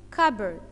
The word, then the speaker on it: cupboard: number one desk yes des K number two cupboard okay see you P boa or G and P after you is silent attune tu an e fluid FLV ute